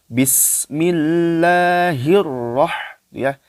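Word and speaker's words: بسم الله الرحمن الرحيم: karena UFO itu ada tasydid begitu ya jadi bacanya harus dimasukkan ke huruf ro Bismillahirrohmanirrohim hir jangan hirohman Iya dimasukkan grup rock Bismillahirrohmanirrohim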